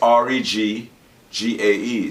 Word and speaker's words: reggae: put it together but if you break it up in two syllables that's reg g-a-e so that's reggae all right k r